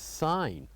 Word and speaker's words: sign: And the fourth one is sign, where G is silent.